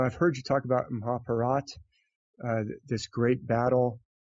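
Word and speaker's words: Mahabharata: mahabarata but you know people who speak Hindi have told me hey you're pronouncing that wrong it's m parat a lot of the a sounds are dropped off at the end maybe back in ancient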